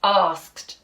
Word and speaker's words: asked: In some parts of the country, they might say asked, and it makes it a bit easier to spell that way. But we generally say asked. So the R sound is actually being made, isn't it, by the letter A. The letter A is saying R in that.